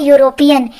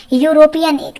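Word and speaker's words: European: इसी प्रकार यूरोपियन, यूरोपियन लिखा तो स्पेलिंग ई से है, लेकिन जब हिंदी में उच्चारण करते हैं तो यहाँ पर या से यग आता है, यूरोपियन।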